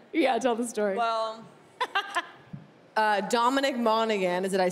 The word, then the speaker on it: Dominic Monaghan: Well, Dominic Monaghan, did I say it right? Yes, Dominic Monaghan.